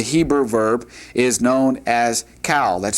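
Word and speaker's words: qal: form of the Hebrew verb is known as cowl. That's spelled q a l.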